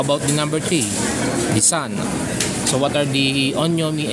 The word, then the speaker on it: 三: the so how about the number three the Sun so what are the onomi and Ki for the Sun so let's let's disregard the irregular or the archaic irregular readings or basically for this character sun or three three the the onomi or uh